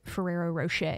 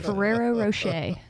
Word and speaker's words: Ferrero Rocher: nut I'm getting is like a hazelnutty like Ferrero Rocher yeah notes on it yeah the sweetness almost